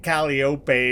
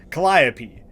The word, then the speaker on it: Calliope: which by the way confirmed the pronunciation with uh Google it's not like caliope or whatever I was saying Calliope I think it was